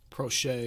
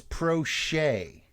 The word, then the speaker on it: Proche: I'm going to go with, and I always think I say this guy's name wrong, James Proche. Prochet. Right. James Prochet.